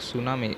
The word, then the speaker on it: tsunami: a person who miss very large हां एक सुना मैं इसमें ना छुट्टी है इसकी स्पेलिंग हैं कि sumitw7 को साइलेंट रहता है